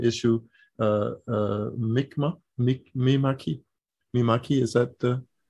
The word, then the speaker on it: Mi'kmaq: And he and his family lives, resides in, and here I'm really going to have a pronunciation issue, Mi'kmaq, is that the? Mi'kmaq, yeah.